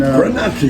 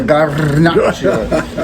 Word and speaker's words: Garnacha: And so originally it's called Garnacha. Roll your R's. And, Garnacha. Yeah, Garnacha.